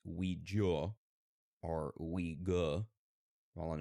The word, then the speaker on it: Ouija: uh we have what the pronunciation of Ouija varies from country to Country in Britain it is most commonly pronounced Ouija or we go all in America it's pronounced Ouija they're interesting like Luigi